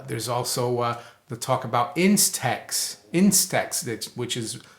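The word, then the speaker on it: INSTEX: the trade Wars there's also the talk about Instax Instax that's which is spelled I NS te X that's a new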